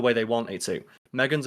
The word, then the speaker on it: M3GAN: Megan's a good film, so you pronounce it Megan.